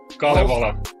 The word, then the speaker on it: Kalevala: But the Halls of, how is that pronounced? Kalevala.